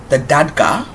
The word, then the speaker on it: Dagda: The Dagda, that's how you say it.